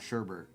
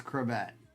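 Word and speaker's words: Chrebet: If you're a young Breaker out there, his name is not Sherbet. It's It's Crebette.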